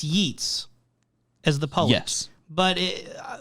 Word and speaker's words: Yeats: So he says it's Yeats as the poet. Yes. But from our understanding, and I had a hunch going into this, that it's Yeats, right? And then we looked it up. It is Yeats.